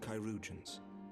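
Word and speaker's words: chirurgeons: she will be attended by our most skilled kyans kyans okay I never would have figured out that pronunciation cusions bear mistress leer to the infirmary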